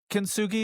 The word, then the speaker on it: kintsugi: You have this poem, kintsugi. Is that how you pronounce it?